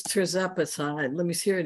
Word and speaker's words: tirzepatide: I think it's tirzepatide. Let me see, here it is. T-I-R-Z-E-P-A-T-I-D-E. Tirzepatide. That's what I couldn't pronounce.